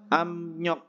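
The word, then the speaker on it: 압력: tulisannya ya cuma bacanya Yang pertama adalah abnyok karena biup ketemu dengan n menjadi m bahasanya apa amnyok tekanan artinya oke kita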